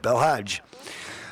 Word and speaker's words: Belhaj: official working with Mr bad I can't even pronounce his name B belaj that's it that's it belhaj Mustafa Abdul Jal the interm Libyan president sent